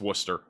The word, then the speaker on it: Worcester: I know how to I know how to pronounce that I know it's Worcester you're not going to get me with that